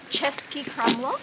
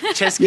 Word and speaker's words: Český Krumlov: Český Krumlov. Someone did their research. Český Krumlov.